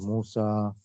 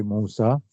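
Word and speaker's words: موسى: With the ya without dots, so it's pronounced like this alif as well. So it's just spelled that way, Musa and Isa.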